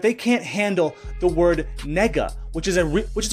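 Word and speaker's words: 那个: word they're not okay it's a real word and it's pronounced nega okay and there's nothing wrong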